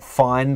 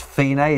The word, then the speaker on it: Fine: little things here f it looks like fine but it's pronounced f is the ending of